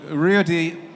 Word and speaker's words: Ruedi: So Ruedi, I keep on trying to pronounce it in the Swiss way.